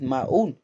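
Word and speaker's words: Maon: You drop the O. You pronounce it Maun.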